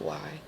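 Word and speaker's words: Wei: Meg yeah that's why I usually just pronounced that we but it's why but with that channel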